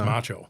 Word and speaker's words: Maciol: And he called me Macho Man because pronounced in Polish because it's a Polish name is Macho.